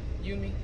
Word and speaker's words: Yumi: eating at yumi yummy what do you think it's called you me yeah yeah yeah so